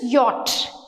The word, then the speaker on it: yacht: YATCH, యాచ్ అని నేర్పిస్తారు. YATCH pronunciation is yacht.